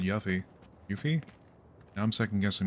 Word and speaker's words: Yuffie: Then I got been pronouncing Yuffie phonetically for years. Yuffie to rhyme with Buffy. Yeah, I think as far as I'm aware, I've always pronounced it Yuffie.